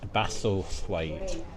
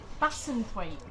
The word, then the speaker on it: Bassenthwaite: In Bassenthwaite. Did I say that right that time? No, Bassenthwaite. Bassenthwaite. This is going to be a funny one again, isn't it? Bassenthwaite. No, Bassenthwaite. Bassenthwaite.